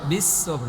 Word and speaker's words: بالصبر: وتواصوا بالحق وتواصوا بالصبر بالصبر না صاد মোটা করে বলতে হবে وتواصوا بالصبر بالصبر بالصبر